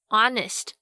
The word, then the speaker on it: honest: H 就是其中一个所谓的这个 silent letter 无声字母，它很调皮哦，有时候跟法文一样不发音，有时候呢又一定要发出像小时候老师教我们的这个 H、hat 这样子。所以到底哪些时候 H 要发音，什么时候又不发音呢？几个比较常见的像是 hour 小时， honest 和 honesty 诚实的和诚实， honor 荣誉，跟 heir 继承人，这些都是以 H 开头但是不发音的例子。那另外如果像是 RH 开头的话，这个 H 也是不发音哦，像是动物园里面的犀牛 Rhino 就是一个活生生的例子， R-H-I-N-O Rhino。